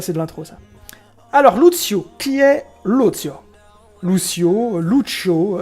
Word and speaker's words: Lucio: de l'intro ça alors Lucio qui est Lucio Lucio Lucio enfin moi je prononce Luzio qui est Luzio donc